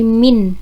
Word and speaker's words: min: ada rata-ratanya atau minnya Jadi bukan mean ya bacanya tapi min gitu ya Min di sini yaitu